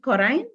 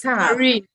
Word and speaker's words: Corinne: Is it Corrine? I hope I'm pronouncing it well. No, it's Corinne.